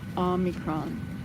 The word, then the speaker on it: omicron: face omicron that's right ah not oh oh omicron that's what i was told is the actual pronunciation anyway so i had to hold my